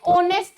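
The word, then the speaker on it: honest: ठीक है, जैसे कि एन ऑनेस्ट मैन, ऑनेस्ट में जो आपका प्रोनाउंसिएशन है उसमें स्टार्टिंग हो रही है ओ से, और हमारा क्या है, एक वोवेल साउंड है, इसीलिए यहां पर हमने क्या लगाया, एन लगाया।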